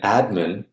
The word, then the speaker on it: admin: Yeah, so in administration, the stress is in the penultimate, and in admin, it's actually on the initial syllable.